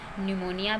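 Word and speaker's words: pneumonia: Same as न्यूमोनिया भी पी एन से शुरू है तो पी साइलेंट है।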